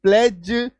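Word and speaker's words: pledge: तो LODGE laws, FRIDGE fridge, HDGE हेज, WDGE वेज, PLDGE प्लेज, DODGE Dodge. Clear है? आ रही बात समझ में? है ना? इसका उच्चारण को भी, इसका अर्थ को भी फोकस कीजिएगा, है ना?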